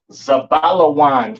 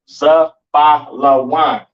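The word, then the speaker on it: זבולון: Pronounce Zabalawan in the Hebrew, Zabalawan in the Hebrew, all right?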